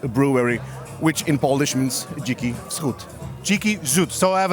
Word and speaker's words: Dziki Wschód: I don't actually know how the name is pronounced. Dziki Wschód, Wild East. Dziki Wschód. Dziki? Dziki Wschód. Dziki Wschód, so it's a Wild East.